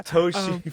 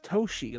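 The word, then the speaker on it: Toshl: with the T, and it looks like it's spelled that way too, but it's not. It's capital T, capital O, capital S, capital H, and lowercase l.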